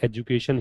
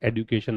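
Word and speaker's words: education: तो ये एजुकेशन ही है, एडुकेशन नहीं होता। इस डी को देखकर फोनेटिक्स में ये निर्णय ना लें कि डे इसका उच्चारण है, ठीक है।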